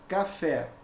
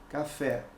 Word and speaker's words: café: exemplo eu tenho aqui a palavra café olha aí ó o café a sílaba tônica é a última então o que que